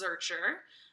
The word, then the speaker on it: Zuercher: It's pronounced Zuercher, which translates to of Zurich, which is where my great grandpa on my dad's side of the family came from.